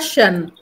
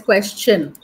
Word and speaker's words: question: and this one question it's not Shan it is question question question when there is an S huh when there is a s before the t o n it will be question CH little bit CH like suggestion suggestion suggestion